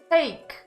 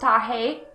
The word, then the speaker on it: take: where creatures of horror take i think you want to say take not tahei it's spelled with a cake and are able to